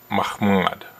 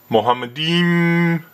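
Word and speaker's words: מחמד: He mispronounces Mahmad. The actual Hebrew word in Song of Solomon 5:16 is Mahmad. But once Deedat says Mohammedim, it's easy for him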